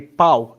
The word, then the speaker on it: pau: how to listen to them, differentiate them, and pronounce them properly. So starting at the top here, we have pau and pão.